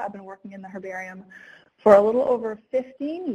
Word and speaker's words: herbarium: introduction to what an herbarium is in the u.s. we say it like like we would cooking herbs so that's why it's an herbarium but in places where